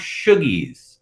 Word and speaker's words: Shoggies: It's actually pronounced Shoggies. Shoggies. Shoogies. All right.